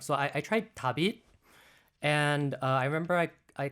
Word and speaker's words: Dabit: So Dabit, although it's spelled differently, it's not the light spelling Dabit, but it sounds like, all light.